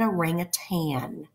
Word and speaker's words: orangutan: weeks ago I said that animal is often mispronounced a lot of people want to call it in a ring of Tang with a G on the end it is not it is actually an orangutan so prior knowledge put